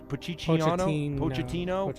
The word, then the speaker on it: Pochettino: Mario Piciano. Pochettino.